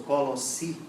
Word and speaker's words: Colossi: Quando nós falamos de Colossenses, estamos falando da cidade de Colossos, ou Colossi, como alguns pronunciam, mas era, já na época de Paulo, uma cidade pequena.